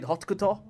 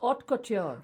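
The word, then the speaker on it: haute: this is the word how do you say hotk is that how you pronounce it ma'am it's Ot Ot I think I used to make fun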